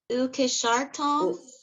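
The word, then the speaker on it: וּקְשַׁרְתָּם: How do you pronounce it? Ukishartam.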